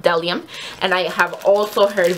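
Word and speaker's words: Bdellium: know it's reflecting um so it has a b at the beginning but I guess the B is silent so they are pronounced delium and I have also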